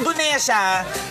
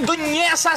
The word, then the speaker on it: Dunesa: Pero sa loob ng 4 na taon sa high school, ang apelido ko Dunesa, lagi Dunyesa sa kanya. Hindi niya pronounce sa mga.